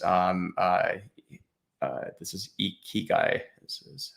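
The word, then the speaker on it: ikigai: how to pronounce um uh uh this is e ki guy this is how you pronounce it here yeah but yeah i i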